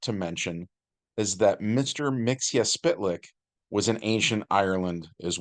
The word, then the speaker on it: Mxyzptlk: kid we called him Mixel Plick by the way but Superman the animated series taught us to say it as mix yes spit lick so that's the pronunciation